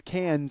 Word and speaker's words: Cannes: So you mean like the Cannes Film Festival? He got Best Oh, Director. well, you don't pronounce the S, first of all, and second of all.